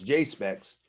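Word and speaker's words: JSPEX: the top it says j s p e x which i pronounce j specs and it means japanese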